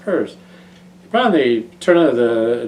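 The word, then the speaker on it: Peirce: I think it's spelled like Pierce, but it's pur pronounced purse.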